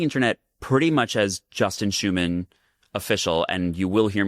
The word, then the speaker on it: Schuman: I'm Justin Schuman and human is quite literally in my last name. Uh, and so that it will help you remember how to spell it. Although there is a little secret C before the H.